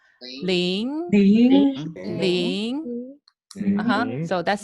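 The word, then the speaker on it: 零: Ling is second tone. It's second tone. So the sound has to go up. Ling.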